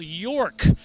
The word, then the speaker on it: York: And that's how you pronounce it? York.